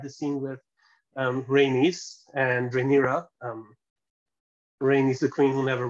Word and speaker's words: Rhaenyra: I can't pronounce that name. Like, she's Rhaenyra.